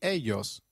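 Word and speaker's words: ellos: of area in Spanish Double L takes up the sound of Y in some areas and a soft J in others so you'll hear both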